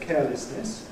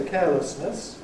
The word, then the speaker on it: carelessness: , ‘carelessness’: My father said ‘carelessness’ ; I say . I think we're both typical of our generations in doing that. Both pronunciations are around. Still millions of people say , but the balance of preference, it seems to me, is changing. So more millions now say which used to be something of a minority pronunciation.